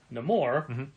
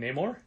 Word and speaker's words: Namor: There really isn't a Namor thing that we can point people towards.